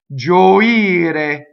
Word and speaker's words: gioire: Where's the stress now? It's on the ire, so it's gioire.